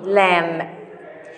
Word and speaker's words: lamb: in the same page also we have some words for letter l we pronounce letters as leaf lemon lamb we don't pronounce letter p lamb here i need all